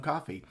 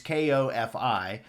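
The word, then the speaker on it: Ko-fi: And thank you to Judy for correcting my pronunciation of coffee. It's Kofi, but hey, we're all evolving here.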